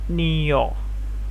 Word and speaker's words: niño: Then you got niño. The N letter is spoken as you get a bit of you can say speak it from the nose as well. Niña, niño, niña.